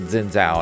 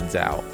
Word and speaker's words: Xin Zhao: There's the character, I've always pronounced it Xin Zhao, and everyone I know always pronounces it Xin Zhao. But it actually is supposed to be pronounced Shin for the X, Shin, and then Zhao.